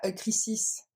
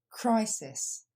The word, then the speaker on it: crisis: fois clate deè mot on ne dit pas crisis mais on dit CR décompose crisis plus rapidement crisis dernière fois crisis troisème